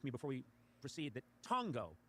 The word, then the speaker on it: tango: Well in Spanish it's it's tango but so that's a short a sound and a short ah can go either towards a I know it could be tango but it's not you saying tongo the way Tarzan would Tarzan would name a fellow ape.